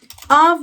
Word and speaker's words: of: Levada no ritmo of the wind. Quer dizer do vento. Porque essa palavra of, repare na pronúncia que o F tem som de V.